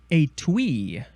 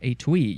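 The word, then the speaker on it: étui: the next word is a twe yeah a twe you can emphasize either syllable uh it is spelled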